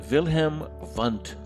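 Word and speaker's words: Wilhelm Wundt: with a laboratory and he is german so the w's are pronounced with a v wilhelm vant and this individual wilhelm fund he established the first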